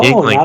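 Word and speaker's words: Yuengling: No, Yingling, by the way. It's pronounced Sorry.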